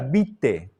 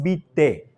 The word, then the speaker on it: vitae: la palabra currículum vitae se escribe vitae pero en castellano se pronuncia bite currículum bite se escribe con ae Sí ya bien la pronunciación castellana de esta palabra latina es bite currículum bite Okay bien siguiente